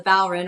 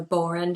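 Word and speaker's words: Bodhrán: music tradition i play a drum called the ballroom or the boron depending on how you pronounce it it's a hand drum you drum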